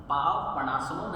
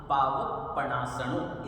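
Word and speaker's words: पावप्पणासणो: इसे बोलेंगे सव पाव पसन पाव पसन नहीं बोलना पावक पणा सण इस तरीके से इसकी प्रोनंसिएशन करेंगे सव पावक पणा सण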